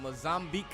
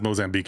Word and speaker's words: Mozambique: Now, granted, I'm not saying it with an accent. I'm saying Americanized. I've never heard an African say Mosamb beek before, but I've heard it pronounced enough in media to know it's a pretty